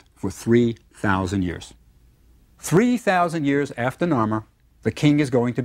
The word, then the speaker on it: Narmer: fish and a chisel now the fish was pronounced noir and the chisel is pronounced mur Narmer this is the man